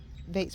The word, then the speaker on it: Bates: And listen, Bates rhyme with hates.